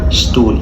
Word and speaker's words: Stuhl: المقطع اللي معانا بعد كده مقطع ال ST وده بيتنطق شت. الفرق بينه وبين ال SB ان ال SB بيتنطق شبه ده بيتنطق شت zum Beispiel Straße يعني